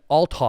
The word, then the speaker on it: Althoff: So I saw the video that you did with Bobby Atoff. How do you say her name? Oh yeah. Bobby Althoff.